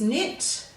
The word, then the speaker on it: knit: So our word is knit. So we're going to sound it, n-it, n-it. Then when we spell it, we have to put that dropped K back in.